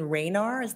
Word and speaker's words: Raynar: And while this is coming up, Mayor, it's an email exchange between Jason Raynar, am I pronouncing that correctly? Yes, you are.